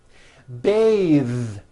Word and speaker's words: bathe: The word bath is a noun with an unvoiced TH. Bath. But when you change it into a verb, to bathe, the vowel changes to an A sound and the TH is voiced.